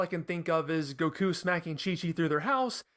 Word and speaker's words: Goku: It is Goku. It's two U's at the end. It's like a double U sound.